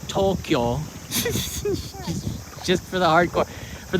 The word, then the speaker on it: Tokyo: same people are saying tokyo which is actually tokyo two syllables so there take this